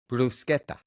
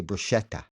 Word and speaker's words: bruschetta: How about how about um a common Italian food since we're on the topic of food, brusqueta. But people say bruschetta. Oh yeah, I know a lot of people. That actually was something that uh that was talked about too when we were in Italy. They told us you Americans and your bruschetta.